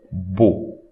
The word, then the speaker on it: beau: This EAU, we read it O. Beau.